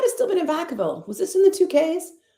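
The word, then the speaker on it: Vacaville: They know they they just call it Vakavville. People that don't live there don't they like try to pronounce it like in strange ways and it's hilarious.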